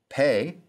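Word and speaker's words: פ: vowels until chapter two pay sounds like the p in pastor sade sounds like the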